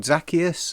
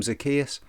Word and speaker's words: Zacchaeus: Well, I've heard two different pronunciations. I've always called him Zacchaeus. Other people call him Zacchaeus.